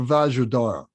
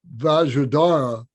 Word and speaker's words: Vajradhara: were asking about vajradhara if you look at that name it's vajra r d-h-a-r-a-a-a-r-a-r-a so most people do pronounce it but that d is part of the dara so um so dorje